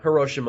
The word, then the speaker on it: Hiroshima: I wonder what the actual way you're supposed to pronounce it is. We should ask on. It's Hiroshima. Hiroshima is the correct way.